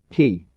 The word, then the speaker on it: he: associated with the liver he pronounced like her with a yawn which is associated with